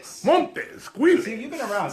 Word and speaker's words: Montes: Am I pronouncing that right? It's Montes.